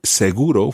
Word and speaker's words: seguro: so Does it include the insurance for example seguro is an adjective in Spanish also it means say for sure so for example esta seguro are you sure okay so seguro when it's used as a noun is used